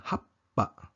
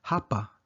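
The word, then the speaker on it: はっぱ: Bale, ang P ay dodoblehin sa pagbigkas at nagiging happa, imbes na hapa.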